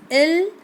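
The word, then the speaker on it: ils: pronoun very easy yes ill I LS I told you we don't pronounce s at the end uh in French language right that is always silent so it is ill then verb is s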